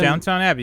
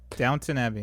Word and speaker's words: Downton Abbey: said it right uh downtown evy abby i think i said that wrong darned it down to downtown abbey you got it downtown there we go downton abbey all right and then